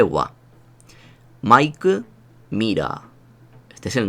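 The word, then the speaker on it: は: Pero diréis, esto es un ja. Muy bien, esto es un ja. Pero cuando actúa como partícula, y veremos más adelante lo que es una partícula, se lee wa.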